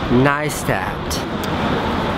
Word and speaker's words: Neistat: fire water huh it's pronounced niist Casey neistat when you want to remember how to pronounce my last name just picture that butterfly tattooed on your ankle or that sweet Tribal Design on your lower back and think to yourself that's a nice tat nice that if there's